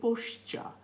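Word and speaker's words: posture: একই সাথে পোশ্চা, আরগুলো সাইলেন্ট হবে, কেন হবে সেটা আমি ফোনেটিক্সের ক্লাসে ব্যাখ্যা করব।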